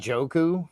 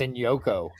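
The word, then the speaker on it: Njoku: are plentiful did you call him David and joku that's so not how his name's pronounced dude I to embarrass you like that but it's pronounced in Yoko so I hadn't heard that rumor yeah no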